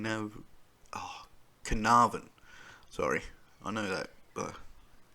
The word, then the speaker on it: Carnarvon: the abduction of four-year-old canal khan now oh carnarvon sorry i know that but it never never looks like how it's spelled uh girl cleo smith